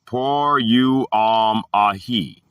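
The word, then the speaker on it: πορεύομαι: The word is por you, oh my. Pronounced por you, ahi.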